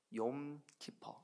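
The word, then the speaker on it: יום כיפור: 욤 타 8 깊어 욤 키퍼 이렇게 발음 해요 욤 기법 한번 따라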